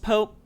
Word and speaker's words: POAP: actually ended up winning i said it's poe app obviously coach one by far okay great i don't believe it's it should be pronounced pope it can whatever you want to call it it's up to you there's no right or wrong way per se but uh i i